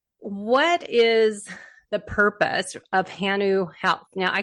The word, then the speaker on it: hanu: what does that mean it's actually hanu so yeah it's pronounced it's pronounced which is Hawaiian for breath what does turtle mean